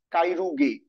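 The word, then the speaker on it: Chirurgiae: Latin যে root সেটা হল উচ্চারণটা হল মেডিকাইনি বাকলরিয়াস বাকলরিয়াস কাইরুগে। ঠিক আছে? বাইরুগাই যাই বলে যেটা উচ্চারণ এরকম হবে।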